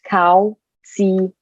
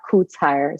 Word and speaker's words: Kautsire: It's pronounced Kautsire, not Kutsire. So don't be fooled by the phonetics there.